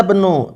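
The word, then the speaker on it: ابن: Hadza bnu Hamidin, bacanya seperti itu ya. Karena hamzah di sini hamzah apa? Hamzah di sini adalah hamzatul wasl. Hamzatul wasl itu barakallahu fikum, kalau dia terletak di awal kata, dia dibaca ibnun, ibnu Hamidin.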